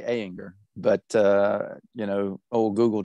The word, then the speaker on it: Ayinger: Well, in the States, we say Ayinger, but, you know, old Google Translate was Ayinger Altbairisch Dunkel.